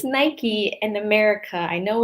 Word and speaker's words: Nike: I believe it's pronounced Nike. or maybe the same in Italian. I'm not sure. But in America, we call it Nike.